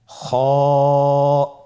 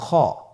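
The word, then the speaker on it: خاء: খ হরফটির মাখরাজ হলো কন্ঠনালীর শেষ ভাগ হতে উচ্চারণ করতে হয়।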